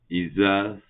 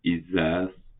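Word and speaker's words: Isaz: ISAS, ça se prononce Isa ou ISAS, ça signifie la glace.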